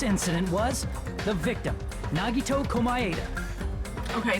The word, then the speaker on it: Komaeda: was the victim, Nagito Komaeda. Okay, see, I'm not saying it wrong. Because that's how Johnny Young Bosch says it. And we all know he's correct in everything he says.